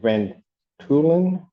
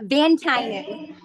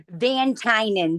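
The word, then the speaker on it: Van Tuinen: Court calls case, people versus, is it Van Tulen, maybe. I messed it all up. Who's their attorney? How did Mr. Virginia? Hi. Hello. Yeah, Van Tynen. The U is silent. Say it again. Van Tynen.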